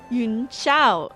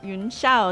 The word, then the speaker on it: Yun Sha: Yuna. Okay. Yun Sha. That's how they say it.